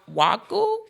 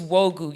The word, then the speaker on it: Nwogu: Yeah, it was always Nwogu or Waku. Yeah, Nwogu. There would be a long pause. It would be. But our last name is Nwogu, y'all, and it's spelled Nwogu. Yeah. And so the N was silent.